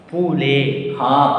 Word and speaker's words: poulet: Poulet. Poulet. Why poulet? Because already I told, words ending with ate will make it sound a.